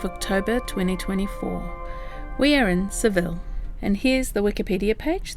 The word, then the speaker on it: Seville: The locals would actually call this place Seville. They actually change the V for a B sound, a BV really, and the L's will be like a Y sound.